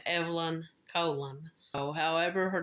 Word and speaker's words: Colon: I've pronounced this girl's name Evelyn Colon. Now, in some other podcasts and such that I've listened to try to gather more information about her, I've heard her name pronounced Evelyn Colon. I've heard her name pronounced Evelyn Cologne, and her family, in one video that I watched, they pronounce it Cologne. It's C-O-L-O-N.